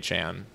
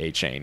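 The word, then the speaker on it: Achane: kind of like but it's aan but he's just being difficult when he says that it's definitely a chain it's spelled a c h a n e I saw that him and his mom pronounced their name differently she pronounces a a chain he pronounces aan that's that's another weird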